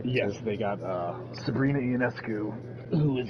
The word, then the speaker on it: Ionescu: they got Sabrina Ionescu, who is like the Russell Westbrook.